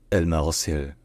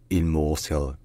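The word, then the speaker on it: الموصل: First, in Standard Arabic, is pronounced Al-Marsil. Al-Marsil. And then, in the local dialect of Arabic, it's called Il-Mosul.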